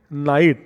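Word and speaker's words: knight: Though word KNIGST is there, but K is silent, so word pronunciation night.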